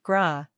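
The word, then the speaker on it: grá: say Gra this word means love it is pronounced gra it also rhymes with the English word Raw this word is sometimes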